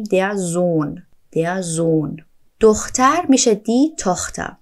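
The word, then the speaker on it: Sohn: دی التنزون یعنی پسر زون اینجا هم توجه کنید که این هایی که توی کلمه زون اومده تلفظ نمیشه نمیگیم در زون میگیم در زون زون دختر میشه دی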